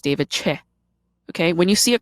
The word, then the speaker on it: Choe: I at the end, which is often mispronounced as Choe, it's actually Che.